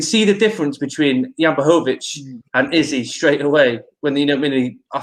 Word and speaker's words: Blachowicz: Jan Blachowicz versus Israel Adesanya. Got it right there, Chris. I pronounced it right.